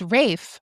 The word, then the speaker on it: Ralph: No, I thought it was like the PH or because it looks like Ralph Fiennes. Yeah. I thought that was silent. No, it's Rafe.